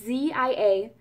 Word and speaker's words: Ziaja: It is, I want to say Ziaja. I never know how to pronounce it. It's Ziaja, and it's a European skincare brand.